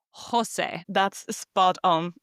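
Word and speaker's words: José: And we now know that every time we see the letter J in Spanish, we pronounce it like the H in English. You say Jose.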